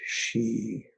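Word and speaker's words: xi: organs triple burner sound is she written x i pronounced like s he the long e she so imagine breathing in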